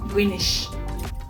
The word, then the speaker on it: Greenwich: To pronounce it as Greenish. So greenish is the right pronunciation.